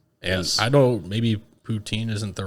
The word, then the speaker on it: poutine: And they did it poutine style, so they did it with the poutine gravy. Poutine, sorry, I said it wrong. Poutine with the mushroom gravy.